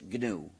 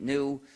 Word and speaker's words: GNU: name of our system please do not follow the dictionary please pronounce a hard G please pronounce it gnu if you say the